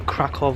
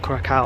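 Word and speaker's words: Kraków: But for now, it's currently day 2 in Krakow, not Krakow. I've been saying it wrong this whole time.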